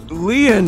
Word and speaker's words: Lien: Lien is spelled L-I-E-N.